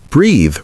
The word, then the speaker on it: breathe: Remember breathe rhymes with see.